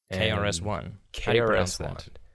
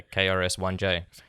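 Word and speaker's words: KRS-One: hip-hop rapper named krs-1 krs-1 how do you pronounce that is it just like that you got to say the letters yeah you gotta say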